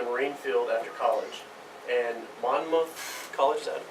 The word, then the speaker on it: Monmouth: And Monmouth College, is that pronounce that right? Monmouth. Monmouth.